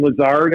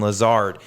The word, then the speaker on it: Lazard: Yep, it's Davonte Adams, Alan Lazard, I think is how you pronounce his name, and Marquez, I think it's Valdez Scantling is how you pronounce his name.